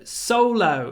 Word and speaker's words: solo: think they're not solo actually the first syllable is stressed Solo solo but solo